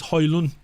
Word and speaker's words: Højlund: You know, it's a silent D. You're not supposed to say the D. If you listen to him ask how you pronounce his name, he says Højlund.